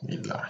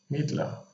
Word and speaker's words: Midler: i just realized that fiddler rhymes with midler that's an interesting one